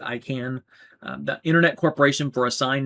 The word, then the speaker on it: ICANN: The IANA and ICANN, or ICANN, I pronounce it ICANN, the Internet Corporation for